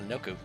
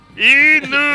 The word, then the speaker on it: Inuko: Inuko! Yes, the first half is like a Shiba Inu.